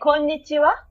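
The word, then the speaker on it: こんにちは: We say konnichiwa.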